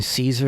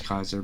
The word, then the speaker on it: Caesar: You know, I'm ambivalent sometimes because, like, in my own head, I go back between Caesar and Kaiser. Oh, yeah. I'm inconsistent about pronouncing. We know it's Kaiser, but Caesar's fine.